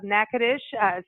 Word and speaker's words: Natchitoches: our leaned gold to the executive director of NACA dish CBB the convention Visitors Bureau so you can